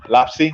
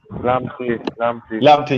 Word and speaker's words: Lamptey: And I got to give Moy, you made a good point there about what's his name, Lapsey? I think that's how you pronounce his name. Lamptey, yeah, there we go.